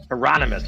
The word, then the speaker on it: Hieronymus: Hieronymus? Hieronymus.